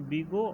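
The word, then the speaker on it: Big O: नाउ जैसे यहाँ पर मैंने बोला कि order ऑफ जी ऑफ N pronounced बिगो ऑफ जी ऑफ एन या ओ एच ऑफ जी ऑफ एन.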